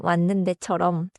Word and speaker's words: 왔는데: ‘왔는데’는 처럼, 시옷 시옷 니은 부분이 니은 니은처럼 이어져요.